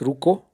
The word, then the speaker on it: Ruku: This place is called Ruku, but the locals pronounce it as Ruko.